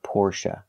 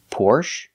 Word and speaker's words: Porsche: Porsche or Porsche now the last syllable is pronounced uh like cup and up not a like say and pay but uh like cup